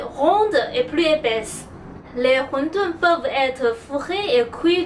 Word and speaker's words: wonton: La prononciation de wondun est en cantonais. En mandarin, on dit huntun.